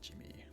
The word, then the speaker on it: Djimmi: Which still feels weird to say, even though I'm pretty sure that's the correct pronunciation, like Djimmi, like Jimmy from Better Call Saul or something like that.